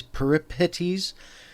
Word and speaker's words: Peripetes: And one rule of thumb is when you see ph, like in this case peripetes, don't make the ph sound an f sound.